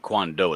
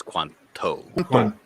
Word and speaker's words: quanto: uh quanta quandoo yeah it's not quandoo it's Quanto Quanto yes how much one little pronunciation there